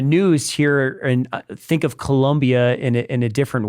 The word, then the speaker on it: Colombia: Colombia in South America I always want to make sure it's with an O not a u Colombia Colombia yes all right I'm